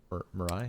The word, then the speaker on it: Mirai: Largely because he had, is it pronounced Mirai? Mirai?